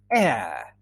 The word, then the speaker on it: heir: In English, heredero is heir. Yes, it's pronounced the same as heir.